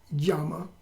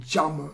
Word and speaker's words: yama: or more correctly called jama, because the J in the Y, when it comes in the beginning of a word in Sanskrit, can be pronounced, it should be pronounced as a J.